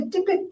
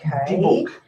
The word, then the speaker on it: Dybbuk: 2 dolls named Mimi and Esther, pieces of jewellery, and a Dybbuk box.